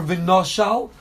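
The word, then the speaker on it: ונשל: The Torah wrote vav nun shin lamed, yet it's pronounced v'noshal as if there was an aleph there.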